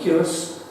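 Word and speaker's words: Culross: the first one at Curus which I'm told is the right pronunciation um in 1217 and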